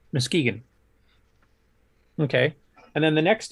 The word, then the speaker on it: Muskegon: So this is in Muskegon, is that how it's pronounced? Muskegon. Muskegon.